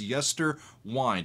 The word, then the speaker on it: Yesterwynde: the YouTube short so it's Yer wind it's spelled with Wy nde it's a word that